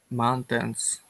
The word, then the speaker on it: mountains: could you please say mountains good better when you're reading you put the emphasis on the tens but we want to put the emphasis on the first syllable mountains try that mountains good and